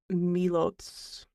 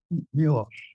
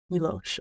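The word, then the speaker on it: Miłosz: We've got, I haven't heard all of these out loud, so if I mispronounce them, let me know. Mallarmé, T.S. Eliot, and then Milos. Milosh. Milosh.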